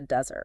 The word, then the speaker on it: desert: syllable, like the Sahara Desert. Right. But if you abandon someone, you desert them. Exactly. And notice how the emphasis shifts to the second syllable.